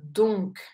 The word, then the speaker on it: donc: mot c'est le mot donc donc ici très important de prononcer la lettre C à la fin donc il y a